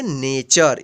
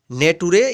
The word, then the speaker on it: nature: NATURE, इसको पढ़ेंगे नेचर। इसके नेटुरे या नटुरे नहीं पढ़ेंगे, क्या पढ़ेंगे, नेचर। नेचर मीन्स प्रकृति। यहाँ पे देखिए टी का यहाँ पे भी च उच्चारण हुआ है।